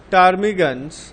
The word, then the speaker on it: ptarmigans: Birds living in polar regions such as penguins and ptarmigans, পিটা silent হবে এখানে, ptarmigans have thick and dense feathers on their bodies.